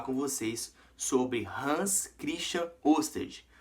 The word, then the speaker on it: Ørsted: E hoje eu vou falar com vocês sobre Hans Christian Ørsted.